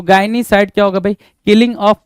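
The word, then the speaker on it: gynaecide: तो गायनीसाइड क्या होगा भाई? किलिंग ऑफ वुमेन क्या बोलेंगे भाई? किलिंग ऑफ वुमेन को हम गायनीसाइड बोल देंगे।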